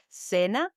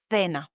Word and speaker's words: cena: For example, in Spain, normally the C before E or I is pronounced like a TH sound. As we said, for example, in our previous episode, cena, dinner, they might pronounce it like cena, for example. Cena in some regions, like in Madrid, while in Latin America, the same C is pronounced like an S, as we learned in the previous episode.